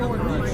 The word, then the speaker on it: Illinois: I know the S is silent, guys.